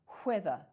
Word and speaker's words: whether: pronounce this one weather i pronounce this one whether i actually make that sound right i say why when where i actually make these breathy sounds because that's how i